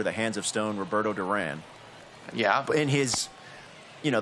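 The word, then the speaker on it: Durán: hands of stone roberto duran yeah in his you know the spanish pronunciation would be duran yes so at any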